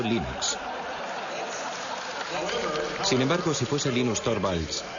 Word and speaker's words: Linux: esmo se pronuncia Linux bueno y Linux lo pronuncio Linux sin embargo si FES Lin no hayuda de